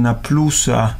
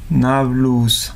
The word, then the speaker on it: Nablus: también la ciudad deem cómo se dice ha alunos que dicen naplusa naplusa nablus nablus tiene una historia muy